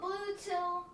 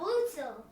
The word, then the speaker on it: Bluetti: It's called Bluetti. It's called Bluetti. See, you can't even pronounce it. It's called a Bluetti. Bluetti, okay. Yeah. It's like a blue tiller.